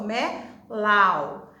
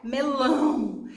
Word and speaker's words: melão: Esse A aí, o som, quando a gente pronuncia, ele sai, lógico, pela boca, mas também sai um sonzinho pelo nariz. Aí a gente chama som nasal.